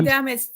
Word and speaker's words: damage: Um, is did you say damage to syllable? Damage. Damage. Yeah, damage. Damage. Oh, yeah. Yeah. It looks like age or age, but we say edge.